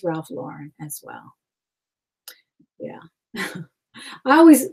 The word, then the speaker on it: Ralph Lauren: But it's not Ralph Lauren, it's Ralph Lauren as well.